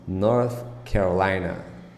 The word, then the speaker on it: North Carolina: North Carolina North Carolina pay attention the th sound at the end of the word North Sometimes It's tricky to pronounce North Carolina this is the state